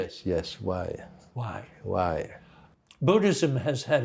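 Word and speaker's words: wai: say hello yeah and and that then the pronunciation of that word it's bill w-a-i right yes yes why why why buddhism has had a huge effect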